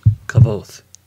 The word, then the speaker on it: Kvothe: Kvothe. It's how I say it. It's K-V-O-T-H-E, Kvothe.